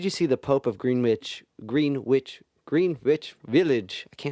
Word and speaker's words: Greenwich: but it's actually pronounced greenwich thank you no it's fine like greenwich village um that movie was